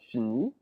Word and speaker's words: finis: The S and the T are not pronounced at all, so it's always just E.